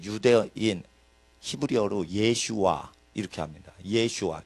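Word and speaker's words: ישוע: 히브리어로 예슈아 이렇게 합니다 예슈아 이게 그 예수님의 히브리 발음입니다 예수 스는 이제 헬라의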